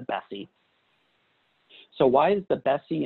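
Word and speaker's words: BESI: to employment success inventory b e s i we pronounce that internally we've always called it the bessie so why is the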